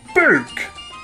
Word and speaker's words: book: Book. Lol. Hashtag weirdo. That's how everyone spoke where I was brought up. You cook in an oven, and you hang a coat on a hook.